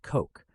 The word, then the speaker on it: Koch: The meteoric rise of Robert Koch, pronounced Koch, from obscure country doctor